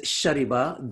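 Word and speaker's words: شَرِبَ: So Hans Weir uses A for Fatha, I for Kasra, and U for Dhamma. So this is Shariba.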